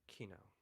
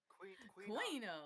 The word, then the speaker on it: Kino: well, before I do, your name is Kino, right? Because I've heard it pronounced all different ways, and I don't like to say your name because I don't know how to pronounce it. It is Kino.